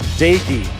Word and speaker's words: Jarret Doege: Jarret Doege. It's pronounced Doege.